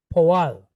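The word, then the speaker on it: פֹּעַל: Okay, we've got the letter pei, right? Got dagesh inside, so that's a P. And it's pointed cholem, so po. Then we have ayin, silent letter, but it's pointed with patak followed by lamed. Al. Poal. Poal.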